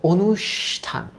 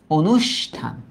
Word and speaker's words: অনুষ্ঠান: না ও তার মানে অটা ও অর্থাৎ সংবৃত রূপে উচ্চারিত হবে ও তারপর কি বলি বলতো অনুষ তারপর আমরা কি বলি বলতো থান অনুষ্ঠান উচ্চারণ কিন্তু গুরুত্বপূর্ণ এটা